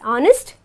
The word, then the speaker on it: honest: honest and R where H becomes silent and we pronounce it as honest and are okay we